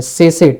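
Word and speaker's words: tsetse: सेसे, T silent है, ध्यान रखिएगा ये, ठीक।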